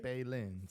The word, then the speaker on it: Felipe Lins: Outside of that, OSP, OSP, and Philipe Lins. Is that how you say it? Felipe Lins. Felipe Lins.